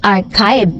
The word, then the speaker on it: archive: Sabi ni Miss Violeta Castro, Miss Dareds, archive is pronounced as archive with AK, not CH and long I.